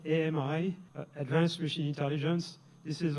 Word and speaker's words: AMI: mistake so we prefer Ami and we pronounce it am which in French means friend I think it's appropriate